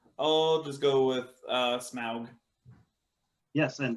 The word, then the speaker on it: Smaug: just go with uh smaug yes and the proper token pronunciation smog is right number five you took